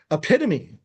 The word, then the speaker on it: epitome: And that's how it's spelled. Hard to blame them. Number 3 is epitome.